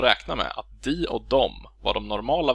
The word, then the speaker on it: dem: Och vi får då uttalet dom, döm eller döm.